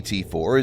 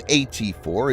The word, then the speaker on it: AT4: the world the name at4 is a wordplay on the 84 millimeter caliber of the weapon 84 being pronounced similarly to at4 the name also doubles